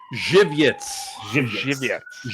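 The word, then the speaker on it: Żywiec: Jiviets. Right. That's how to pronounce it. Jiviets. Yes. Kind of rhymes with giblets.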